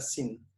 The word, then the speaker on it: zine: Y en ese tiempo se me ocurrió hacer un sin, en realidad, se pronuncia sin, que es algo que tenía pendiente hace varios años.